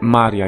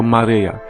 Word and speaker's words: Maryja: koniecznie przez jego matkę Jego Matce jest na imię Maria jednakże w kościele katolickim to imię się skrzywiło i wymawia się jako Maryja No ale nieważne w